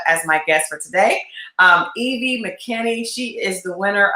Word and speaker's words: Evvie: So what's the actual correct pronunciation of your name? Evvie. Evvie.